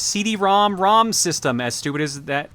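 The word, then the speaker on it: CD-ROM²: good start fun fact it is actually officially pronounced CD-ROM ROM system as stupid as that as soon as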